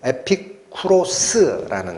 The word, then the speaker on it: 에피쿠로스: 에비구레오라는 이것은요, 원래 발음은 에피쿠로스라는 겁니다.